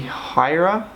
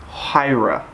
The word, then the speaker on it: Huayra: search okay the Pagani Huayra it's hu a Y or a Huayra Huayra hua Huayra yeah Huayra I think I think that's how you say it top JDM this one's